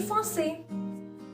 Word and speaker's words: français: Je parle anglais, hindi et français. Last word in français, not pronounced. Last letter.